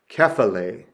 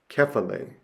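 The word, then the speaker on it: κεφαλή: The most important thing that you need to know is that the accent mark is placed over the stressed syllable of the word. So the acute is agape, agape. Or the grave is kephale, kephale.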